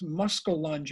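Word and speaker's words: muskellunge: uh uh a muskie this muscle lunge i think it's pronounced much bigger fish and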